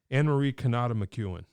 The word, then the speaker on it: Anne-Marie Cannata McEwen: get this right because it's important it's important Anne-Marie Canada McEwen perfect hey hey that's pretty good I do